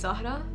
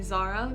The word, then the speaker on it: Zahra: My name is actually pronounced Zahra, but I usually say Zara, because from such a